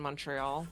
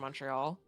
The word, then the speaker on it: Montreal: And one thing that it always bugs me like you can always tell someone who's not from Montreal cuz the first syllable rhymes with fun not fawn.